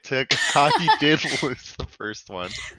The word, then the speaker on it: Tagi: So I started on the Taji tribe, or I think that's how it's pronounced. Tagi. It was orange. Tagi. Tagi. See, this is what happens when you don't watch the show. Tagi, right.